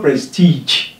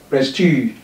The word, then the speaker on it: prestige: It's not prestige, prestige.